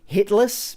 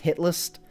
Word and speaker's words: Hit List: A lot of people think it's hitless, because, you know, if you say it fast, it's pronounced hit list, but yeah, I'm going to be starting a series called Hit List.